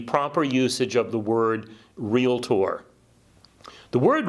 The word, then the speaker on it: Realtor: word and of course it is a two syllable word real tour it is not a three syllable word realtor right so we want